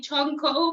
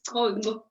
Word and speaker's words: Chonco: It is Chonco, the pronunciation. Some pronounce it in English and say Chonco, but it's Chonco.